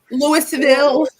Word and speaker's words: Louisville: Louisville natives three and you got to say it like l or l louville Louisville Louisville it's louville there you go tell the world tell